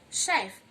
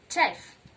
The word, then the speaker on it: chef: In this word, letter CH makes the sound sh. You go chef and not chef.